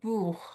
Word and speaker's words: Buch: A question from our colleague Buch, who I pronounce in the German way because it's another book that I feel very close to.